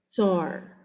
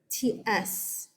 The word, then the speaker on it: tsar: We often you'll see this spelled over here TSAR because that's how it's said. Tsar, TSAR or CZAR.